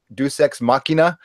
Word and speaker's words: Deus ex machina: Deus Ex Machina.